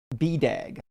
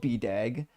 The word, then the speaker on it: BDAG: When I was in school, I paid like 300 bucks for it, but it's usually uh pronounced BDAG. And it's called BDAG uh because of the authors.